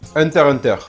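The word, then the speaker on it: Hunter × Hunter: Hunter Hunter parce que lui déjà le X ne se prononce pas.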